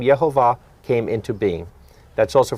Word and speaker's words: Yehovah: say yeah ova but J is not in Hebrew yeah they would have had Yehovah so that's an important